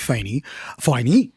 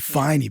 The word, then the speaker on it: Faine: Yeah, forget about how it's spelled. Just think about the Faine. sign. Yes, you Faine, baby.